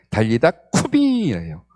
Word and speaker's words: 달리다 쿰: 가서 예수님은요, 소녀의 손을 잡으시고요, 달리다 쿰이라고 이야기하시는데, 이것도 발음을 원래 발음대로 해드릴게요. 달리다 쿰이에요. 악센트가 들어가야 합니다.